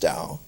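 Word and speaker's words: Dow: college was named arthur dao not tao but d-o-w but pronounced dao and arthur dao had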